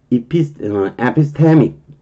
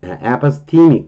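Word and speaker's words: epistemic: 라는 이피스테믹, 그렇게 발음할 거예요. 에파스테믹, 이렇게 발음하네요.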